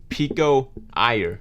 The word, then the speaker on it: Pico Iyer: I don't know if this is going to be how you pronounce his name, but the way I read it is Pico Iyer.